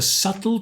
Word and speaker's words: subtle: We don't pronounce the B.